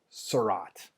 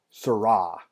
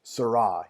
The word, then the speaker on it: Seurat: Here's our next modernist painter, Georges Seurat. And I just totally butchered his name while I was looking at it. Georges Seurat. Don't pronounce the T there, Mr. Endres. Georges Seurat.